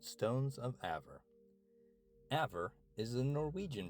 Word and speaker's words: Æver: Aver is the Norwegian pronunciation, but you can also say a first.